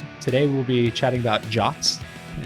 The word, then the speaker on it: JWT: we'll be chatting about jots and if you don't know what a jot is not there is no o in the acronym that it comes from uh we'll be discussing